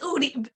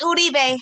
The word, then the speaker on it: Uribe: It's Uri. Excuse me. It's Uribe.